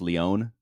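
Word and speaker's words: Lyon: Um and so you were playing in France in Is the city pronounced Leon? Yeah. Yeah.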